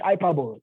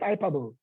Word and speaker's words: hyperbole: Mind you, some of you call it hyperbole. It's not hyperbole. It's pronounced hyperbole.